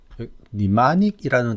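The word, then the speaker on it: mnemonic: 여기 보면 니마닉이라는 단어가 있습니다. 첫 글자 m은 무음이에요. 그래서 m은 발음 되지 않고 발음이 니마닉이라고 합니다. 니마닉은 우리 한국어로 기억하기 좋은 거예요.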